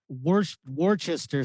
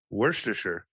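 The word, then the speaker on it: Worcestershire: I think it's worister sauce. What is it? Worster. Is that what it is? It's worster sauce.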